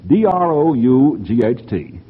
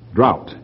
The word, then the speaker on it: drought: D ro u ght okay don't drought is entirely correct is there any other pronunciation for that joke yes I think yes I have heard that some time and I think the pronunciation grouse is also allow allowed but drought you're right is the correct pronunciation alright do you want